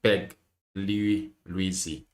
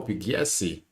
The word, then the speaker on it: Pugliesi: Pugliesi. Yes. Pugliesi, yeah. Pugliesi. Oh, Pugliesi. Ah, that's how you say it. You pronounce it.